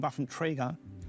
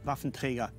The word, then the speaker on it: Waffenträger: And when I hear myself saying Waffenträger, it sounds actually very odd to me. I should say Waffenträger. That's the only way how to pronounce it.